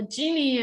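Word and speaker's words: Gini: gonna focus on the genie impurity i think it's pronounced genie i never looked it up but i prefer to call it genie because it's so cute it's like genie in a bottle uh and so uh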